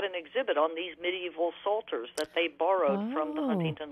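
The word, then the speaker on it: psalter: had acquired several medieval Salters the word is Salter and it comes from Psalm and it's spelled PSAL ter an assaulter was a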